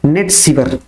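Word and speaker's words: Nat Sciver: Women's ODI पूछ ले, ये तो मेंस का है, वहीं पे वुमेन्स का पूछ ले वुमेन्स ओडीआई, तो आपको बताना है नेट सीवर, NATSCIVER इसका स्पेलिंग है, नेट सीवर।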